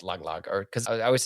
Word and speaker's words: Tagalog: our next episode, but I think it's pronounced Tagalog, or because I always say Tagalog as like the language, in the Philippines, but Mm-hmm. it's Tagalog, I guess. It's Tagalog is how you say it.